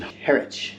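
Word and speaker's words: Harwich: Um we're in Heritch, that's the right way to say it.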